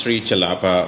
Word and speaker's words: Sri Chellappa: So my name is pronounced Sri Chellappa.